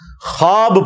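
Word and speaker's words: خواب: नहीं आ सकता अच्छा यह लफ्ज लिखने में है ख्वाब ख वा अलिफ बा लेकिन पढ़ने में यह ख्वाब है वाओ साइलेंट हो जाता है ख्वाब पढ़ा जाता है यह लफ्ज़ उर्दू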